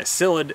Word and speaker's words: psyllid: the hackberry Gulf cyllid a cyllid is not spelled with an S but a P so the hackberry Gulf